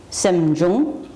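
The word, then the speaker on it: sems byung: Then we have Semjung, S-E-M and B-Y-U-N-G, Semjung, which would be mental events. And then another word, Namshe. Transliteration, R-N-A-M-S-H-E-S. It's pronounced N-A-M-S-H-E-Y, Namshe.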